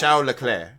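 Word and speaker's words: Leclerc: like think Shialair where his name is Charles L Clerk but it's pronounced Xiaolair or Chiao Eclair as some people jokingly call him because why not?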